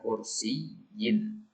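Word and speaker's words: كرسيٍّ: kaidahnya ikhwah bahwasanya ya setelah zarf itu harus berharakat kasrah ya makanya tadi kita bacanya kursiin akibatun fauqo kursiin ya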